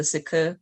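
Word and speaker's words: Cike: to join the the psych or i think it's technically supposed to be pronounced the zuku but we'll just call it the psych that's how they pronounce it in the audiobook so at least the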